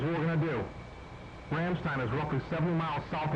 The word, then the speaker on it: Ramstein: Copy, diverting Ramstein. Dude, I'm pretty sure it's pronounced Ramstein. What? Everybody when I've heard calls it Ramstein.